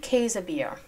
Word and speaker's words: Käsebier: Johnston so first the work of Mrs Gertrude casabir don't be too surprised by the pronunciation that is the correct pronunciation I also